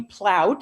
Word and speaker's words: Plout: good morning my name is plout it rhymes with sauerkraut i'm a retired physician